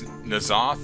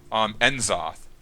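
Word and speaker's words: N'Zoth: I don't know. It's kind of weird. They pronounced it Nazoth at their streams, but in World of Warcraft, if you actually deal with some of the bosses in the Dragon Soul, they call it Enzoth, not Nazoth.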